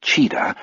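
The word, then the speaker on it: Tcheda: a prick of unease Danny cheetah last name pronounced cheetah is one of French landing's 14 full-time rmp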